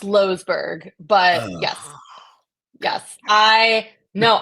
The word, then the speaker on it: Loesberg: luberg losberg it's pronounced losberg but yes yes I no I I'm not Dutch but a lot of people think I'm Dutch and that is how the Dutch say it so okay you are